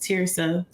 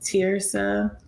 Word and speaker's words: Terysa: But yeah, so my name is pronounced Terysa, and that's actually like part of my book too, because a lot of people mispronounce my name. I think that it's Terysa, but it's actually pronounced Terysa.